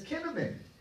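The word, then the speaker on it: קינמון: So cinnamon has kept its closeness to the Hebrew language. It's liberty. Yeah, huh? Cinnamon. Cinnamon, but it's kinamon. And actually if you say the C, because it's pronounced with a C, right?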